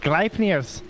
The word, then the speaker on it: Gleipnir: That's just how you say it. If you don't say it, you got to call from Ice Frog. He's like, Aegis and Gleipnir. You got to phlegm it out.